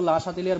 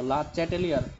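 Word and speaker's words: Le Chatelier: পরিমাণ বাড়ে এটা কিন্তু লা সাথিলিয়ার বলে গেছিল লা চ্যাটেলিয়ার ঠিক আছে যেভাবে উচ্চারণ ওইটাই শুদ্ধ আসলে তো লাশলিয়া সাহেব বলে গেছিল যে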